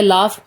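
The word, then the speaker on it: laugh: Next है लाफ, spelling में जी है, साउंड में नहीं है।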